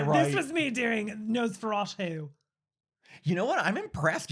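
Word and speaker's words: Nosferatu: This was me doing nose feratu. You know what? I'm impressed you're pronouncing it right.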